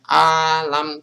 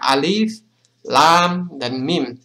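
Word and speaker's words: الم: ketemu Alif disini jadi jangan dibaca alam tapi dibaca alif lam dan mim = a di ayat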